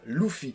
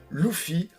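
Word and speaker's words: Luffy: ne me connaissent pas je vais dire loup fille mais il se prononce aussi le suit le fille lou fille enfin comme vous voulez mais moi je présente je prononce le loup fille pourquoi parce que j'ai écouté la vo depuis très très longtemps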